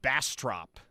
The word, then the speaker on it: Bastrop: Um Jeff from OKC says it's pronounced Bastrop.